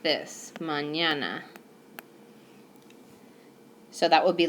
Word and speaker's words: mañana: how to pronounce it it would be like putting an N and a Y together so when I write mañana with the N yay you can just pretend like it's written like this mañana so that would be